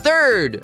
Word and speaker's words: third: Third, a gente começa colocando a pontinha da língua entre os dentes para fazer o som do th.